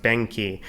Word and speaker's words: BENQI: probably going to use is i believe pronounced benky and this is basically